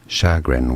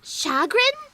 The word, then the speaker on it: chagrin: sound because it's French shagren was a stress on the first syllable in yes shagen it's a sh sound not a CH sound because shagon thank you